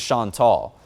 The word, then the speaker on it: Chantal: the third name that it would claim is Chantal. Yes, I know that looks like Chantal, but that is the correct pronunciation of it.